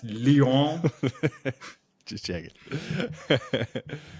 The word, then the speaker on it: Lyon: Isn't it pronounced lion? It's pronounced Lyon.